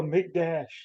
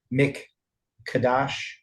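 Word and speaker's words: מקדש: So there's the word mem, kof, dalet, and shin, mikdash, Miqdash. Sometimes it has a dot in the kof, which means you have mik kadash. Sometimes pronounced that way.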